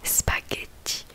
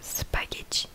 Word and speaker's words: spaghetti: Le G et le H, ça se prononce que. Donc, comme le seul exemple que j'ai trouvé, c'est spaghetti. Donc, spaghetti, je pense que